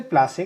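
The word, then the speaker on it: पलाशी: ये झारखंड का state flower भी है, और पलाश के फ्लावर्स के नाम से वहाँ पलाशे है उस जगह का नाम, लेकिन ब्रिटिशर्स इसे प्रोनाउंस नहीं कर पाते थे, इसीलिए उसे प्लासे कहा गया है।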